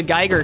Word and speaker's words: Geiger: I forget what it was because I mispronounced Geiger counter as Giger counter.